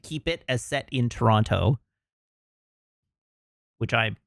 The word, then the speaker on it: Toronto: And you can tell that nobody in the movie is from Toronto because they all overpronounce the second T.